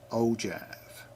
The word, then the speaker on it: ogive: Uh o givve is pronounced ojive.